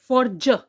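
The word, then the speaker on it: fridge: Like फ्रिज, फ्र ई ज, ज। तो यहां पे आपने सुना फ्र, और आई को मैं बोल रही हूं ई, यानी कि आई की शॉर्ट साउंड।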